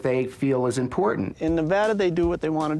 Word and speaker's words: Nevada: People mispronounce our state name all the time. You get the Nevada, Nevada. That it's like potato or patata. It's kind of like tomato and tomato. It is Nevada.